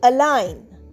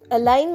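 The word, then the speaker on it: align: এই এলাইন শব্দতে কিন্তু জি সাইলেন্ট।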